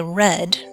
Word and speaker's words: read: in this one so for past tense we say red just like the color the not correct example